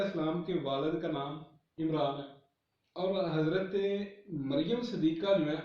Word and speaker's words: عمران: ہارون کی بہن تھی، اور وہ بائبل میں وہاں نام ہے امرام، میم کے ساتھ ہے، نون کے ساتھ جو ہے وہ نہیں ہے۔ اچھا، جب ہم عبرانی کا یہ ایک تلفظ ہے، جب اسے عربی میں ہم پڑھتے ہیں تو وہ عمران جو ہے بولا جاتا ہے، ٹھیک ہے۔ اچھا، بات